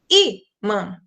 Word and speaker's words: ímã: Se eu falasse imã, o an seria mais forte, mas eu digo imã. Então, o i é mais forte.